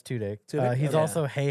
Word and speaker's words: Tudyk: He's Is that also how you pronounce his amazing. name? he's all yeah. It's Tudyk.